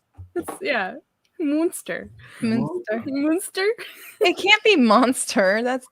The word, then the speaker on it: Munster: I think it's Munster. It's not monster. It's Munster.